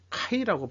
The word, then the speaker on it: KAI: 속에 살고 있네요 우주경제 열렸지만 웃지 못하는 kai 카이라고 발음해야 되겠죠 숙주 선수 줄줄이 낭만 두 번 한